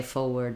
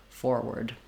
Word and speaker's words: forward: that first R, but as you're listening to native speakers, you may notice that sometimes they leave out that first R sound, and it is an acceptable pronunciation according to Merriam-Webster's dictionary. So that is also okay. If it's challenging for you to put that first R in, you can say forward instead of forward.